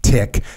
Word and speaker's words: TIC: my heart rate spiked a tick pronounced tick stands for troops in contact it is something arresting